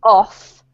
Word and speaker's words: of: This word here is actually pronounced as if it were that, okay? And this is the one that has a f sound. So this is off, and this is of. Always. There is no pronunciation of this word that has an F sound.